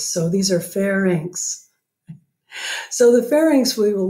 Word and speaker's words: pharynx: this structure the pharynx the pharynx it's not the fair next don't call it the fair next it's the pharynx and the pharynx is spelled weird but you just think of it as like Bob wants to tell me some of his ink and he's asking for a fair price so these are pharynx